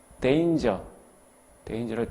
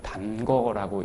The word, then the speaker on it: danger: danger를 단거라고 읽는 학생 없기를 바라죠.